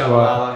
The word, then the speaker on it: Shabalala: Pronounce that Shabalala, right. Yeah.